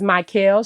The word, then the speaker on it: Mikael: okay awesome okay so everybody my name is my Kel you can find me on Instagram Facebook